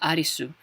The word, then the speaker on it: Arisu: this is and is pronounced arisu which is exactly the same pronunciation as arisu when we pronounce you know the English name in Katakana in Japanese so that's the connection